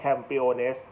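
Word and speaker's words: campeones: สเปน ก็ คือ Champion ก็ จะ เรียก ว่า campiones GS I O ภาษา อังกฤษ แต่ ถ้า เ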